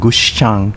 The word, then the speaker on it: Gushikami: with the merger of two towns kochinda and gushikami pronounce kuchinda and gushchang respectively in uchinoguchi there you have it the